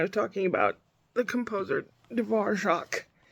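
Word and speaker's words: Dvořák: talking about the composer Dvorak. I called him Dvorak. D-V-O-R-A-K, Dvorak. Because I grew up where there's a lot of Bohemies, and people that I knew personally with that name pronounced it Dvorak.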